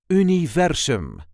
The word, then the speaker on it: universum: If you want to say universe in Dutch, you would say universum. This is the way we say universum. Universum. The emphasis is on the second syllable. Universum. U-ni-ver-sum. Universum.